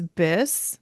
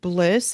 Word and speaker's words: Biss: and my nickname is Biss, Biss. Catherine made that up when we were little, and it rhymes with bliss. And some people forget that it's Biss, and they call me Bliss, which I love.